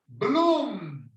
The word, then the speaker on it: bloom: Bloom. Bloom. Doom. Sometimes words that end in M or N. Sometimes we do this. Bloom. It's not bloom. It's bloom. You Bloom. have to sound it.